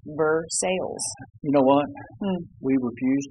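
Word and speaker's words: Versailles: Kentucky native is that we pronounce things the way it looks true and it says ver sales you know what we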